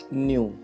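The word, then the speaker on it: ν: न्यू, ये वी की तरह से, इसको NU न्यू से प्रोनाउंस करते हैं।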